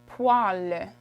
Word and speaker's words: poêle: It's poêle.